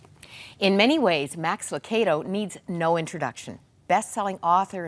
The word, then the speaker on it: Lucado: It's not Lucado. It is Lucado. That's right. It's a like joy tomato.